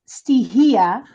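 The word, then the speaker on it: στοιχεία: It's pronounced stihia, which are Greek land spirits.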